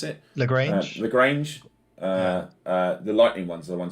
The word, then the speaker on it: Lagrange: the laurence is it laurange cloud so you pronounce it lagrange lagrange uh the lightning ones are the ones